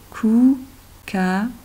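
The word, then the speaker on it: kookaburra: Alors ici, on a le O comme dans foot, deux O anglais, hein? Comme dans foot. Donc, on va lire OU. Koukaburra.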